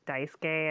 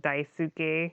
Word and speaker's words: Daisuke: this one Japanese dude was named Daisuke, and they kept saying Daisuke, which means I love you, and it's like, okay, we get it. You like him a lot, but could you say his name right?